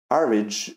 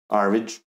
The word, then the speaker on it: Airmed: it me want to play more and uh average is um yeah that's how it's pronounced uh average I didn't know that but I learned something